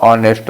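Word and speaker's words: honest: ऑनेस्ट में ये जो ऑनेस्ट वर्ड लिखा इसका प्रोनाउंसिएशन वोवेल से हो रहा है। हम क्या बोलते हैं इसको? ऑनेस्ट बोलते हैं। है ना? ऑनेस्ट। तो साउंड किसका आ रहा है?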